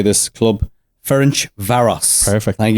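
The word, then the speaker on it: Ferencváros: you've taught me how to say this club Finch Varos.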